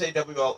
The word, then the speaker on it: AWOL: All right, or sometimes AWOL is also pronounced (A-Wall) too. So this is, all of these, some, several of these actually can have two ways of saying it.